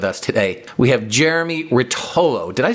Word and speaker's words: Rotollo: We have Jeremy Rotollo. Did I pronounce that right?